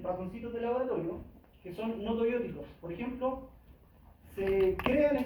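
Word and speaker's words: gnotobiótico: Cuando hablamos de un animal no tobiótico, se escribe con una G al comienzo, no se pronuncia la G, pero se escribe, ¿vale?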